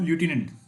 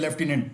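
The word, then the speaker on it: lieutenant: इसका जो correct pronunciation है वो क्या है दोस्तों? लटिनेंट। क्लियर? लेकिन आम भाषा में इसको जैसे हम यूजुअली बोलते रहते हैं लेफ्टिनेंट।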